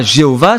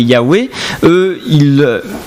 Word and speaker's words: Yahweh: Si c'est le nom de Dieu qui compte, si c'est son vrai nom, c'est pas Jéhovah, c'est Yahweh.